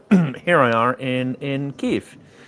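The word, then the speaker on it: Kyiv: Not just on Thanksgiving, but uh here I in in Kev. I'm practicing my pronunciation there with the the drawn out.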